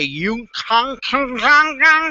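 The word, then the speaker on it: Uniik: you know me i can hardly pronounce my name i would say you con stuff just go to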